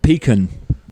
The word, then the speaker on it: pecan: Pecan.